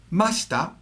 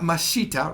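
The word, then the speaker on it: ました: don't do right now masta not mashita right just like asta did okay and masen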